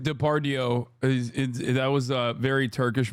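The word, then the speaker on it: Depardieu: usbekistan the I said depardo that was a very Turkish moment Gerard diardio is how you say it in Turkish Gerard depau he was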